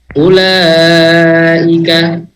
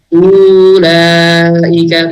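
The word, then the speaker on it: أولئك: mustadir jadi dia kalau ini tidak dibaca panjang dibacanya pendek ulaika ulaika Jadi bukan ulika bukan dua harakat dia ya karena dia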